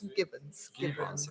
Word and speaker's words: Gibbons: no, it's a hard G. I'm It's sure a hard G. Gibbons.